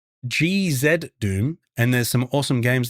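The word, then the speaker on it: GZDoom: It's pronounced GZ Doom, and there's some awesome games that came out on Set Engine like Celeco and Total Chaos.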